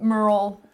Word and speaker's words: Murrell: make me marketable yeah my last name Merl it's kind of hard to pronounce spell it's easy to say but you wouldn't spell it the way you hear it yeah so we we